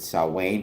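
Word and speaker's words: Samhain: Not only do I know it, but you'll notice I pronounced it correctly. For the record, I'll, you know, I know to pronounce it saw Wayne because I'm always reviewing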